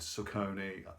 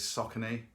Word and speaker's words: Saucony: the name completely wrong I think I said suck only apparently is saucony they should change their